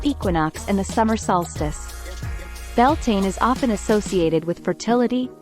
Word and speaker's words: Beltane: from the lovely Merriam-Webster site May 1st Beltane pronounced Beltane meaning the Celtic May Day Festival belting